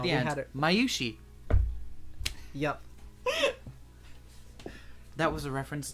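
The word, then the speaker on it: Mayushii: No, I know exactly how to pronounce it. No, at the we end, had it. Mayushi.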